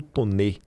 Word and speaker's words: Tonet: Públicas, que é o Paulo Toné. Tonet que se escreve. E curiosamente após o encontro com Tonê, o Nicolas ganhou três páginas dedicadas a ele no jornal Globo.